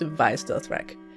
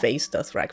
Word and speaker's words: Vaes Dothrak: Yes, it's actually pronounced Vaes Dothrak. I thought it was Vaes Dothrak for the longest time, and then I looked it up.